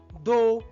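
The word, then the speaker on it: though: তাই দো, থ্রু, বট ইত্যাদিতে কিন্তু ওইউ জিএইচ থাকলেও জিএইচ কিন্তু সাইলেন্ট থাকে।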